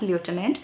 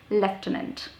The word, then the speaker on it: lieutenant: Okay, so we write it as lieutenant, but we are not supposed to be pronouncing it as lieutenant. It's supposed to be pronounced as lieutenant.